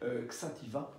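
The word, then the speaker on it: Xàtiva: petite ville qui s'appelle, alors je prononce à la française, hein, vous n'en voudrez pas, Xativa, X-A-T-I-V-A, quand, du côté de Valence.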